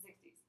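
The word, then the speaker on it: soixante: 50, And then 60. 60. All right, very good. I'm going to give you the pronunciation of this one. S-W-A-S-A-N-T-E. 60. That's the pronunciation for that. 60.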